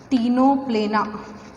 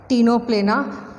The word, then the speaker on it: Ctenoplana: So examples are Pleurobrachia, Ctenoplana, C is silent here, Ctenoplana, Pleurobrachia and Mertensia are the examples of phylum Ctenophora.